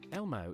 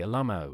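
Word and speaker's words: LMAO: Lau hey Devon what's the best way to pronounce l m a o Elmo is the most common pronunciation though some say Alo or spell out the individual letters my first hel but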